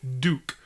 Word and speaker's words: Duque: There's a character called Duke who looks like Duke Nukem, and they call him Duke, but they spell it with a Q-U-E instead of a K-E. So it's D-U-Q-U-E, Duke.